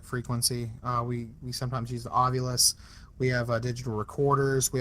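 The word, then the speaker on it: Ovilus: Ovulus.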